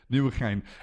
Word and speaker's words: Nieuwegein: Um Coast, I might have to get you to pronounce the name of the city where it is being hosted. Nieuwegein.